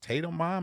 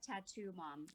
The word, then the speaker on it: Tattu Mom: I am joined today by, is it Tatum Mom? Is that, how do we pronounce this? Tatum? Tatum? How do we say this? No, it's Tattoo Mom.